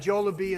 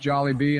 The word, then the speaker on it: Jollibee: I am putting Bojangles up in a tier alongside Jolab and Zachby's. I know the people will love this decision. First of all, it's pronounced Jollibee.